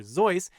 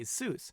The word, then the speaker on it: Seuss: For example, Dr. Seuss should actually be pronounced Dr. Zeus, but Theodore Geisel got tired of correcting people, so we all now say Seuss, instead of how he, Dr.